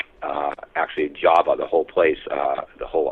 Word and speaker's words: Java: By the way, the name in Dravida is actually pronounced Jawa, even though it's spelled Java.